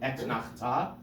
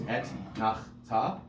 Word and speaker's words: Etnachta: Etnachta. This is important because it's a tricky word, and I often say if it's if it's a tongue twister for you, break it down into its syllables. Etnachta.